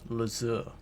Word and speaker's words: Lazur: His name is actually pronounced Lazur. Zor.